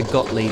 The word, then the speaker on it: Gottlieb: As I say, 1991 by Gottlieb, this one.